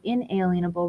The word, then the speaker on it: inalienable: vocab word today is pronounced unalienable or inalienable rights I've heard it both ways and so these are